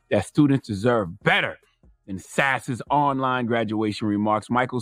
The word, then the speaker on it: Sasse: Donkey of the Day for Wednesday, May 20th goes to Senator Ben Sasse, or Sasse. I like sassy. No accent on the E, though.